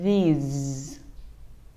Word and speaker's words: these: Chúng ta đọc là these. These. Âm cuối là âm z, cho nên chúng ta để hai răng lại và không cho hơi ra, nên nó sẽ bị rung ha.